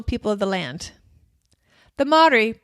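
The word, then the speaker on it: Māori: to Rotorua in the heart of New Zealand's Maori culture and the spiritual home of New Zealand's tangata whenua the original people of the land the madhuri pronounced kind of like Maori not Maori the way it's spelled ma Ori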